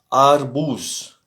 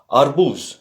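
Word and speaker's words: арбуз: Alors, A, comme dans papa. Et on a vu l'exemple de euh, euh, c'était quoi? Azbuka. Ça veut dire l'ABC, l'ABCD. Et donc on a ici arbouz.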